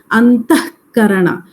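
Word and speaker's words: अन्तःकरण: Antaha plus karana, and it is pronounced as antahkarana. That visarga is reduced to half. Aha is a visarga, but we say just half of the visarga. Antahkarana. That's how it's pronounced.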